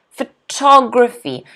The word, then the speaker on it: photography: this word okay photography photography notice the stresses on the second syllable photography photography can everyone